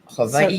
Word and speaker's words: Hawaii: different than Hawaii yes I've never been to Hawaii but it's a little bit different than Hawaii wonderful Havi is the way to pronounce it yes I learned that a long